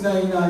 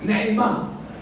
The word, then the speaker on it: Naïma: Combien qui connaissent Naïna ici? Naïna, j'ai bien prononcé là? Comment? Naïma. Voilà.